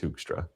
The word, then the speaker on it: Hoekstra: That's a very Dutch last name, pronounced Hoekstra. And how do the Dutch say it? That's how they say it. I mean, it would be more like Hoekstra, but it's they roll their R's, so I can't do